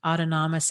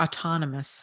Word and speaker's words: autonomous: it is our first autonomous act or autonomous I should say put the wrong emphasis on the wrong syllable autonomous act yes and